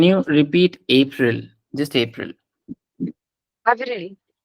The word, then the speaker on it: Avril: It's Avril. Okay. The A is a little A. I mean, it's not as Avril. subtle. It has to be pronounced as A, just like the usual A we do.